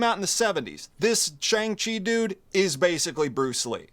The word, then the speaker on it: Shang-Chi: their kung fu hey shang chi even rhymes with bruce lee yeah it does it's the correct syllables so that's him that's